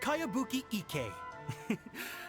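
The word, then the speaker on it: Kayabuki Ikkei: heard of it by cowabunga icky mia this is a really strange name who's this cowabunga it's pronounced kayabuki ek that would be me outlander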